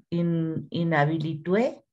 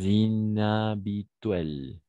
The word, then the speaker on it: inhabituelle: in bois in habitué no sé qué es, inhabilitué. No sé cómo se pronuncia. D'accord, Mario. Une voix, inhabituelle.